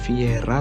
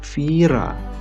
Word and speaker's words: Viera: Nah, kalau di bahasa Jerman bacanya bukan Viera tapi Vira.